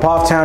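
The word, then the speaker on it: Pfafftown: in case you're interested now let's talk about Poff Town it took me forever to learn how to pronounce this one it's pronounced p-o-f-f Town Poff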